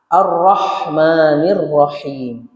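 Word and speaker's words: الرحمن الرحيم: Nah, bis e terkadang dalam kalimat basmalah itu bismillahirrahmanirrahim kita kurang memperhatikan huruf H. Arrahmanirrahim. Jadi bukan arrahmanirrahim tapi H-nya H tipis ya.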